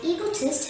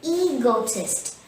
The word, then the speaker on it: egotist: not brag about himself the word egotist has three syllables here e go test and the stress is on the first syllable e so say egotist repeat after me egotist